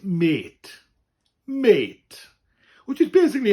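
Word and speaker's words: mêt: And it's pronounced the same as the English word mate. It says Welsh for mate, meaning friend. So basically it's mate.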